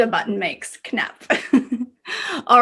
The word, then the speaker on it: knapp: how do you say button in swedish knop knapp knap i like that it sounds like the sound a button makes knapp all right now because movement troll has a